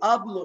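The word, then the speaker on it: hablo: سايلنت الاتش نو سوبرونونسيا حرف الاتش ده مش بيتنطق طيب امي تعرفي تقولي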